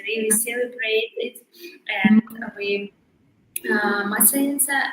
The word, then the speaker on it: Maslenitsa: Is it like a maslinista? No, yeah, wow. Maslenitsa, this celebration is usually on spring.